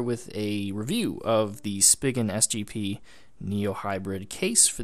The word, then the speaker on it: Spigen: So first of all, Spigen, that is how you say it apparently.